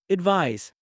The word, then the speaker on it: advise: Advice ends with an s sound while advise ends with a z sound.